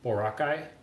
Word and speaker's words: Boracay: hasn't i have for like i went to boracay morocco is that how you say it i